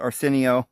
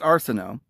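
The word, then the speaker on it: Arsinoe: sister her older sister some make pronounce it Arsenio like that Arsenio Hall guy but it's Arsenal and so she was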